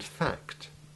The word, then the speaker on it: fact: It is important to make sure that each letter is sounded in the combinations CT and CTS. It's very easy to lose the T sound in act and fact, and to slur the plurals.